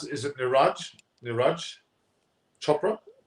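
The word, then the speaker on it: Neeraj: What do you think about the gold medal for, how do you pronounce it? Is it Niraj Chopra? Niraj, yeah.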